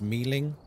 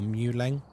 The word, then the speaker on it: Myling: Myling is actually pronounced Mealing or Muleng. That's the actual pronunciation.